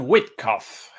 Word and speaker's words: Witkoff: Yo siempre lo llamo Witkoff con la pronunciación en Witkoff, alemán, pero en inglés lo llaman Witkoff.